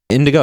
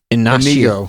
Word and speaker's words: Inigo: Indigo. It's not. It's Inigo.